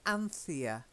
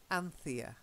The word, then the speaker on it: Anthea: they drink he was drunk okay and then Anthea Anthea yeah I'm famished Cyril and Anthea and lamb